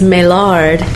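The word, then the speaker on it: Maillard: this for us as well as help us pronounce this correctly right it's it's meard m a i l l a r d mards Odyssey it's an imperial dark by Bell's Brewery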